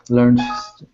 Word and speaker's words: learned: Learned to swim. Learned. Learned. Yeah, it's almost a T sound at the end. It's one syllable, so learned or learned.